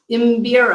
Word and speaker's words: Mbira: She plays an instrument that I fail every time I try to pronounce. The oboe? No. It's called the Mbira. Who? Mbira.